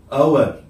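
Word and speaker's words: hour: Pronounce করছি, কি বলছি আওয়ার, তখন এটা হবে কি এন আওয়ার, কারণ এখানে এইচ এর উচ্চারণটা কি আছে সাইলেন্ট আছে।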